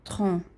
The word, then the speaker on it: tronc: Qu'est-ce que c'est un tronc? Le tronc, c'est une partie. Le tronc est une partie de l'arbre. Ok? Donc, le tronc, lembrando que a última consoante não é pronunciada, é igual tronco, o tronco da árvore, ok?